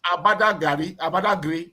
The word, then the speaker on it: Badagry: It's not Badagry, it's Abadagri, something like that.